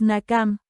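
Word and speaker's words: נקם: Nekam, Non, Kuf, Mem final, la pronunciación más correcta es Nakam, venganza.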